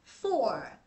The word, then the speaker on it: four: 4 nè Số 4 Nếu mà muốn nói giọng Anh Mỹ cho nó hay hơn á thì cả nhà cong cái lưỡi r xíu mình nói là four for four nó có cái âm Ờ nhẹ nhẹ á cả nhà Giọng anh Mỹ họ